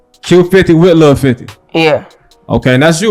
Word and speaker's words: Q50wLil50: is featuring Q50 l 50 that's how to pronounce the name Q50 will 50 say it again Q50 with little 50 Q50 with little 50 yeah okay and that's you right can you